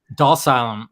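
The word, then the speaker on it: Dhalsim: I was Dalsylum.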